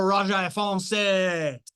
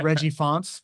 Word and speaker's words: Reggie Fonts: We got the Raja Fonse. Fantastic, Reggie. By the way, Reggie from the Inland Empire. Reggie told me that his name is not pronounced in that French accent. It's Reggie Fonts, but he likes me saying it like that.